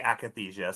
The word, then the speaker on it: akathisia: say akathisia, but maybe it's akathisia, like you pronounced the apraxia. Can you tell us? Yeah, so most people say akathisia, so you're fine to say that.